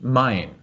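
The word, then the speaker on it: Main: river it's pre it's it's spelled m-a-i-n but it's pronounced mine and similarly for the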